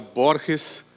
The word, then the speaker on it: Borges: borges leitor da religião eu vou pronunciar borges na forma portuguesa em homenagem aos avós portugueses do do grande autor argentino eu leciono há quase